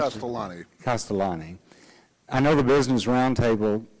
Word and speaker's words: Castellani: Castellani, how do you pronounce Castellani. it? Castellani.